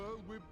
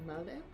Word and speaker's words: Merlwyb: So, fun fact, I've always pronounced it Merlwyb, not Merlwyb, because it looks Welsh to me, and as I understand it, the Welsh pronunciation would be like Merlwyb. I'm bad at Welsh, but Merlwyb sounds weird to me.